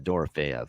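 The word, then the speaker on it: Dorofeyev: dorv maybe F okay there you go yeah dor fev okay there we go I've heard both before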